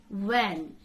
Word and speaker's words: when: to say recitation recitation the word is when just Silent Age when don't say when when when the word is now